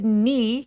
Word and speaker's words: knee: his 할 때 K 소리는 묵음이라서 발음 안 합니다. his knee 길게 his knee kept touching mine.